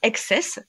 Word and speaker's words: XCSS: consacrer à mon projet on peut prononcer excess même si c'est écrit TSS mais SS climat voilà